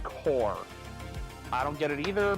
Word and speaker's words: Corps: So, For future note, when they say that word spelled corpse, like C-O-R-P-S, it's usually pronounced core.